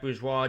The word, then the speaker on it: Bourgeois: You can follow me at Bourgeois, JackBourgeois. That's how you pronounce it, not necessarily how you spell it, obviously.